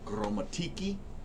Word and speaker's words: Gromatici: an office in Atascadero Los Olivos and Goleta gramatisy is the name of my company gourmaticy land surveying in Latin it's pronounced chromatiki because the sea has a k sound in